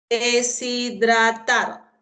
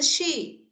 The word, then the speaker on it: deshidratar: La H no tiene sonido. Entonces está entre vocal y vocal. Entonces, de, si, dra y tar. Profesora, ahí dice she. Ah, porque estás influenciado por el inglés.